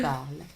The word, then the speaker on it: parles: We do not pronounce it, but we write it.